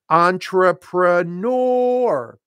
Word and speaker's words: entrepreneur: all the time it it comes from the French but it is an English word and we stress the final syllable we say it as entrepreneur thank you Meo you